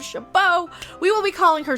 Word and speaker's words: Chabot: chabot the woman who appropriated a geek sounding pronunciation for a name to say shobot instead of chabot we will be calling